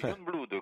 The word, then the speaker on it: Jongbloed: Youngblood, comme en anglais.